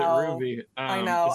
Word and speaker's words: RWBY: never heard anyone say I'm like is it RWBY or is it Ruby like YMCA you're fine I know YMCA is